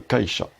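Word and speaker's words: 会社: Et ça se prononce kaisha, voilà.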